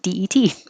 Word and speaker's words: debt: I put this here because we also have a silent B in the word debt. Just sounds like DET, debt.